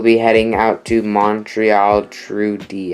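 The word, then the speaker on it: Trudeau: heading out to Montreal Trudy that's how you pronounce it and then over here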